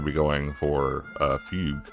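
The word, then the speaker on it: Fugue: be going for uh fug I guess is how you say I thought it was fuge I don't know why um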